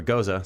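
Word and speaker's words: Gose: So this is a goes or goza. Some people pronounce it, but we're going goes style Goze. beer. Goze. Goes is proper.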